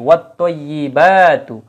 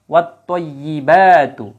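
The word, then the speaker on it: وَالطَّيِّبَاتُ: তো সূর্যাক্ষর থাকার কারণে কিন্তু আলিফ লামের উচ্চারণ হবে না, এবং তায়ের উপরেই একটা তাসদিদ চলে আসবে, অর্থাৎ এটা মোসাদ্দিদ হবে তখন ওয়ার্ডটা, হরফটা। তখন কি হবে, আত্তয়্যি, ওয়াত্তয়্যিবাতু, ওয়াত্তয়্যিবাতু।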